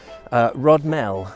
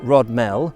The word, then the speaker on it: Rodmell: West woods away from rod Mel or rod Mille as it may well be pronounced and I'm curious to